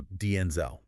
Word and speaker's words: Denzel: In a 2025 appearance, Washington shared that the correct original pronunciation of Denzel is actually with the stress on the first syllable. So, Denzel.